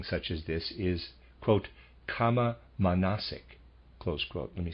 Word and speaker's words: kama manasic: A kind of thinking such as this is, quote, kama manasic, close quote. Let me spell that, readers aside, K-A-M-A hyphen M-A-N-A-S-I-C, kama manasic, end of readers aside.